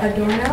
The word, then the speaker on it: Adorno: The Adorno, is that how you say it?